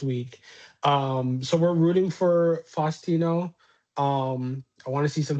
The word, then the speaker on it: Faustino: Um, Flastino Oro.